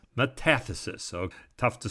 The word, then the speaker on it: metathesis: let's do the pronunciation let's see how to pronounce it correct metathesis metathesis so tough to spell and tough to say